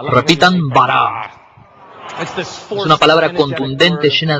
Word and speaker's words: bara: La palabra crear se dice bara. Repitan bara. Es una palabra contundente, llena de energía, de crear cosas. En un principio, Elohim bara los cielos y la tierra.